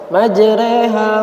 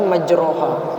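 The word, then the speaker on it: مجراها: Majreha wa mursaha, tulisannya majroha, tapi bacanya majreha, dan cuma ayatnya di sini saja.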